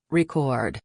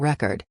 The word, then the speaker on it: record: When you're talking about the act of making a recording, the stress is on the second syllable, record. But if you're talking about a vinyl record, the stress is on the first syllable, record.